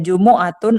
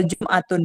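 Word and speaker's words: جمعة: Jadi Jum'ah tuh bisa dua baca. Bisa cara bacanya Jumu'atun atau Jum'atun. Dua-duanya benar. Ya. Jadi bisa Jum'atun, bisa Jumu'ah sama. Yaumul Itsnain, Yaumul Tsulatsa, Yaumul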